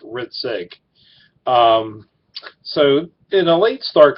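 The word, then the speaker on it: Hrcik: Riddick it's a my last name is h RI c ik but it's pronounced rit sake so in a late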